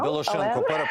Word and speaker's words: Білошенко: Правильно наголос зробив в прізвищі? Білошенко. Білошенко, але...